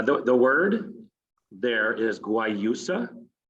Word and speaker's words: guayusa: excellent so uh the the word there is guayusa why you so i'm going to practice uh it does have